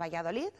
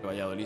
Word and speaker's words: Valladolid: expongan en la ciudad valladoli se escribe con D en realidad y que esa d